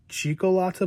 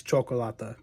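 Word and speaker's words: Cioccolata: I think I said it Chico Latta, but I think it's Chocolata because his name's Italian for chocolate.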